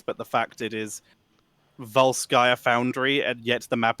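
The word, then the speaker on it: Volskaya: for me is it not so much a pronunciation difference but the fact it is Val skaia foundry and yet the map announcer says voir sky industries oh well not even so much in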